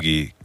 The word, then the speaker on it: kintsugi: Spell it so they can look it up. Kintsugi.